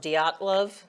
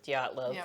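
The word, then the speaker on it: Dyatlov: to talk about is I think it's pronounced diatlov pass it's Russian and so this incident was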